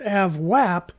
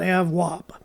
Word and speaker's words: AVWAP: you to know that it's pronounced avwap not have so let's look at